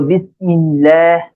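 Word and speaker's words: بسم الله: যদিও শেখানো হয় যে আল্লাহ শব্দের ডানে যদি জের থাকে তখন আল্লাহ শব্দের লামকে পাতলা করে পড়তে হয় তো বিসমিল্লাহ এইভাবে উচ্চারণ করার চেষ্টা করবেন তাহলে আমরা এবারে বিসমিল্লাহ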